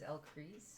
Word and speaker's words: Ellcrys: Chris so I think the correct way to say it is ellcrys how do you want